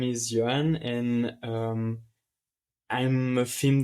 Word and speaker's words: Yoann: take care of it don't worry for my name it's like Johnny it's it's fine how you pronounce it so as you said my name is Joanne and um I'm a